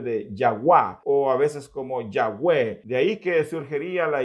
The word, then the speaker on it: Yahvé: de pronunciar el tetragramatrón no era como Jehová, sino que como Yahwé, es decir, aquellas consonantes del nombre de Dios que se traducen como la Y, la H, la V y la H, habrían de traducirse o pronunciarse como Yahvé.